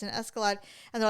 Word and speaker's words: Escalade: Anyway, so the reason I said I I almost wouldn't mind an escalad. Escalad. Escalade.